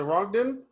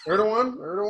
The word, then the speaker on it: Erdogan: Was it Rogden? Oh. Erdogan, whatever. Rogden. Rogden. Aragon? I'm mad. Caesar, I'm mad that you said it Rogden, then you said it right after that.